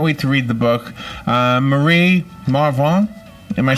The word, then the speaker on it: Marie Marvingt: said I can't wait to read the book Murray Marv wrong am I saying it right yeah what was